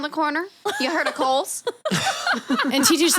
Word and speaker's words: Kohl's: But it's spelled like COALS.